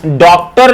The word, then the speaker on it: डॉक्टर: जैसे हम क्या लिखते हैं साथियों? डॉक्टर लिखते हैं तो डॉक्टर में ओ का आधा उच्चारण किया जाता है।